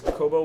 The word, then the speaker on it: Kobo: Another one is Kobo Wallet. I used to call it Kobe Wallet, but it's a Kobo Wallet, which is available for Android and iOS devices.